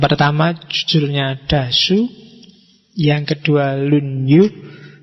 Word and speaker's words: Lunyu: jujurnya dasu yang kedua lunyu bacanya misah ya kalau disambung jadi lunyu i kalau lunyu licin Oke jadi yang keempat